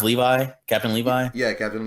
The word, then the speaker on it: Levi: Is it just pronounced Levi? Captain Levi? Yeah, Captain Levi.